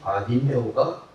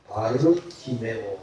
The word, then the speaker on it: 바디메오: 바르티메오 이렇게 부릅니다. 공동 번역은 우리 성경에 나오는 원어 발음을 그대로 옮겨줍니다.